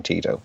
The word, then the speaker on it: Tito: So the pronunciation is Tito because that's how you say the name Tito, but there you go.